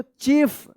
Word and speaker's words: chief: THE द, CHIEF देखिए यहां पे, अब IE एक साथ है तो इसका क्या उच्चारण होगा, रूल्स में आपने पढ़ा होगा तो बता देंगे आप, इसका ई उच्चारण होगा, ठीक है। तो क्या पढ़ेंगे इसको, चीफ।